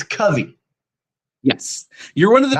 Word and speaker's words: Covey: when you were 10 is when you decided, and it's Covey, Yes, you're one of the very not few that Covey. actually pronounced it correctly.